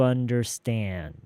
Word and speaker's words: understand: I don't expect you to understand. 그리고 아무것도 없이 바로 what it takes. 이 사이에 뭐 더 없어요. 뭐 생략되거나 그런 것도 없어요. 그냥 바로 넘어가야 돼요. Understand what it takes. Understand에서 D 묵음이에요.